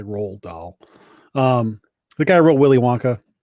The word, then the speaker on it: Roald Dahl: say that guy's name Roald Dahl no it looks like Ronald but it's not it's a Roald Dahl the guy wrote Willy